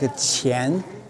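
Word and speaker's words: 钱: Money pronounced like qian, or something ahead of you, something in front of you, meaning in front.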